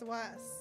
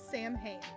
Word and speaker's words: Samhain: It kind of sounds like Halloween, but it's Swas. Because I read it as Sam Hain, but you said it's not that. It's something else.